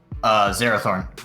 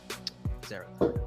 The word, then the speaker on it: Zerathorn: Zerathorn, if you're looking for the pronunciation. Zerathorn. Okay. It's pretty phonetic.